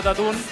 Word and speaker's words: Tatune: Y a todas las personas que no han escuchado a Tatún, vayan, se escribe Tatune, busquen en YouTube, estamos